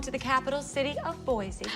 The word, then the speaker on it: Boise: Yes, also home to the capital city of Boise. Oh, I hate to correct you, Charlize, but it's pronounced Boise.